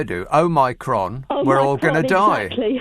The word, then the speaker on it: Omicron: And that's the word Omicron, because people keep putting an extra N in the middle of it, as in omnibus, and so on. And it's amazing about how many people keep using the wrong words. It's easy to remember, but just say it the way I do.